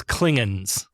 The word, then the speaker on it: Klingons: a whole mess of Klingons have arrived and note here that Sulu says klingens they still haven't quite canonized the pronunciation Kirk orders Sulu to